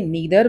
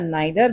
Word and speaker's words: neither: इसी तरीके से गाइस आप इसे नीदर बोलिए या नाइदर बोलिए, दोनों ही बोलने के तरीके सही हैं।